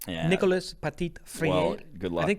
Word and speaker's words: Nicolas Petit-Frere: offensive tackle group with Nicolas Petit-Frere. And then I think that's got to be pronounced more French. Yeah. Nicolas Petit-Frere.